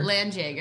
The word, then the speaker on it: Landjäger: Landjäger. Yeah. It's like... Landjäger. It's like Jaeger. It's like but not Jägermeister. liquid.